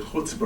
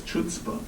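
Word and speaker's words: chutzpah: or Michelle Bachman because Michelle Bachman doesn't pronounce the word huta right she says chuta and David Letterman can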